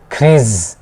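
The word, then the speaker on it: keys: কিন্তু খে ই ওয়াই এস একটা সিঙ্গেল এস হইলে তখন সেটার উচ্চারণ হবে জ, একটা সিঙ্গেল এস এর উচ্চারণ জ।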